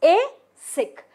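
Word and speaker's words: ASIC: okay so AIC a it is pronounced as a sick so it is a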